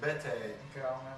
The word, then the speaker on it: Bedi: It's not pronounced any other way, just Bete.